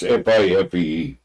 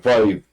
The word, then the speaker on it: Fife: If I'm pronouncing it right, it's Fife.